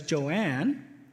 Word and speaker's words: Joan: Joan, spelled exactly the way the other 2 like their names, but Joan likes to be pronounced as Joanne.